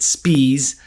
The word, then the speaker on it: Spees: about Charlie Spees now the name is spelled s p i es you can understand why he may not want to go by spies he pronounced it spes that he is a